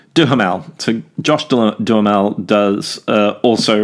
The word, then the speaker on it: Duhamel: beautiful and Josh Duhamel I can never say it right do her mal so Josh Duhamel does